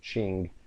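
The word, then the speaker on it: Qing: death of the uh it's pronounced Ching Dynasty so China went through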